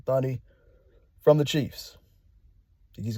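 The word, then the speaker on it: Thuney: You got Joe Tony. I keep saying his name wrong. Thunny from the Chiefs.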